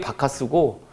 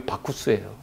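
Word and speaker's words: Bacchus: 영어 발음이 바카스고 어 로마식 발음이 박쿠스예요.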